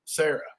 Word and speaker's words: Sara: She will tell I'm like, Sarah, it's still pronounced Sarah.